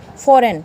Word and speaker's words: foreign: FOREIGN तो last में एन पे ख़त्म हुआ, एन से पहले क्या आ गया जी, तो हम जी को क्या कर देंगे, साइलेंट। फॉरेन क्या बन गया, ये फॉरेन।